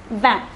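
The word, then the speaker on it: vingt: number 20 it is notice that the t at the end is silent for number 20 it is van so let us say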